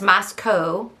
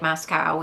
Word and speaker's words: Moscow: just weird um and it's Masco rhymes with Idaho not not like Moscow which I think I